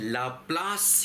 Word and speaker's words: Laplace: तो बच्चों आज से हम लोग शुरू करने जा रहे हैं लाप्लास या लाप्लस या लैप्लास या लाप्लेस, जो भी आप कहना चाहें, इसको लोग अलग अलग तरीक़ों से प्रोनाउंस करते हैं, है ना।